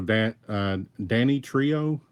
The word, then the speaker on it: Danitrio: Okay, so Danny Trio. Sounds like Danny.